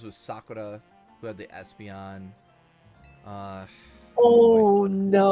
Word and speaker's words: Sakura: like I I mean I try to say it with the Japanese accent as much as possible